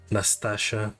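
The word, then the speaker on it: Nastasha: Merl who are related Natasha Nastasia that's how you pronounce it George Sears who's this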